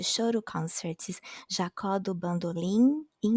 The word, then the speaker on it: Bandolim: concerts is Jacó do Bandolim. Like bandolim, even though it ends in M, we pronounce it as an N, so it's Jacó do Bandolim.